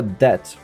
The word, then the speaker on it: debt: So, we we owed him a debt, which has four letters in it, but the B is not pronounced. You just say that as if it didn't exist because that makes so much sense.